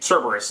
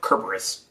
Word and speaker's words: Kerberos: I mean, Cerberus is or Kerberos, I think is how it's supposed to be pronounced, is a perfect example.